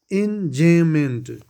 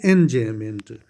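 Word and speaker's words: enjambment: Now enjayment. B is silent here. So in enjayment.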